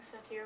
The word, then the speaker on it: satyr: Like, I'm pronouncing it wrong, by the way. It's satir or something like that. It's satire. Satir, yeah. But I mean, you see what I'm saying.